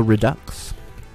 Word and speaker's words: redux: Sounds like ducks, accent on the second syllable.